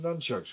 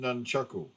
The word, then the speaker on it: nunchaku: did she no yeah everyone calls him nunchucks who calls them nunchaku weebs the big one probably how it's pronounced in Japanese right right now now